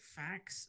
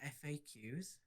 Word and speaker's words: FAQs: pronounce it facts, not FAQs.